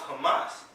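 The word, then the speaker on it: חמס: It's a Hebrew word meaning Hamas, pronounced Hamas.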